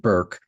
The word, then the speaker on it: Bourke: I've been calling it Burke for a dozen times and I have to keep remembering that she pronounces it Burke. Um Hannah Burke, burke ke.